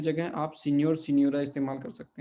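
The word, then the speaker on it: senhor: अब यहाँ पे इसको सिन्होर, इस एच को पढ़ना नहीं है, क्योंकि जब भी एन और एच आते हैं एक साथ, तो वो मिलकर क्या बन जाते हैं, न्य, ठीक है।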